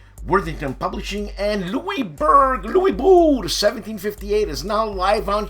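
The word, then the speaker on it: Louisbourg: on Kickstarter so check it out on Kickstarter Lou Bo 1758 yes it's not lewisberg or BG it's Lou Bo yeah the uh the GS silent the O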